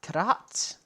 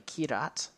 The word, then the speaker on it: Kyrat: If you've never played Far Cry 4 takes place in the fictional country of Kyrat, or Kirat. Depends on kind of who's pronouncing it in the game. It's generally Kirat.